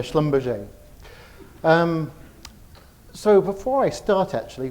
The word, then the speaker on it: Schlumberger: work for Schlumberger and Donna's correctly pronounced the name of the organization most people struggle and call it Schlumberger but it's a Schlumberger so before I start